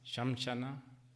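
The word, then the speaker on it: श्मशान: Anyway, I'm thinking we can talk about 8 shamashana, shamshana. How do you pronounce? Shamshan. Okay.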